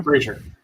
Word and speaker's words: Fraser: Fraser.